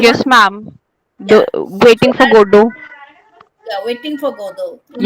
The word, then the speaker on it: Godot: And the spelling is Godot. Godot. So T is silent.